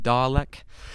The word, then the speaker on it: Dalek: Like, I think someone called you a Dalek. Is that what they're called? Yeah, that's Doctor, right. Is that how you say it, Lauren? Okay, Dalek.